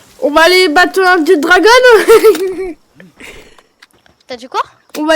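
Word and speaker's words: Jetragon: C'est pas d'accent anglais, je fais comme si c'est prononcé en anglais. Et oui, en français, il se prononce Jet Dragon.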